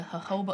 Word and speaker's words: jojoba: experience the best oil the jojoba oil spelt with the j what about baby oil